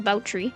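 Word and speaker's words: Báthory: Baie, or if that's supposed to be named after Elizabeth Baie, it would be pronounced Boutry.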